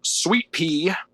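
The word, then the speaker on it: Suite-Pee: But yeah, side 1 of the CD has Sweet Pea, and it's spelled sweet like a hotel suite, and then pee like peeing, Like and, urine.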